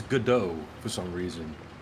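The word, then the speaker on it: Godot: it is pronounced gdau sounds like French or something they should down to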